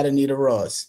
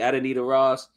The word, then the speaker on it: Adonita Ross: Number five is chemistry the uh title cut featuring is it uh Adita Ross was it how you say it? Yeah Adonita Ross. Yeah Adita Ross. Thank you. Adonita Ross.